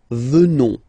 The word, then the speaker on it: venons: Final S not pronounced. So you will get the sound venons.